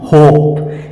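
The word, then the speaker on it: hope: एच ओ पी ई होप शब्द के अंत में ई आया है तो फ्रेंड्स इसमें इ का उच्चारण नहीं हो रहा है तो इसका सीधा-सीधा उच्चारण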